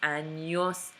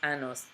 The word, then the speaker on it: años: saying it correctly appropriately you're saying cuantos anos tienes not cuantos anos tienes and yes it was very very important tiny little squiggle big big difference so to answer you